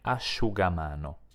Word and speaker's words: asciugamano: legge evidentemente Shu come nelle parole prosciutto e asciugamano la i non si pronuncia neanche in un altro caso quando cioè